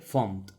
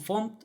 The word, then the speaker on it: fmt: No sé por qué le llaman font, pero debe ser una convención a la que llegó la comunidad por las letras FMT que forman el nombre y dijeron, vamos a pronunciarlo font.